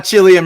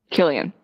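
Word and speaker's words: Cillian: Look, I'm not Chileian Murphy, but you know, Killian.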